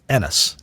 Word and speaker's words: Ennes: Is that NSI? How is that pronounced? It's it's Enis. Enis.